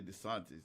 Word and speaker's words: DeSantis: I always say DeSantis. Is it because of the water? Oh, DeSantis. I maybe it's Spanish. So. No, you actually saying it right.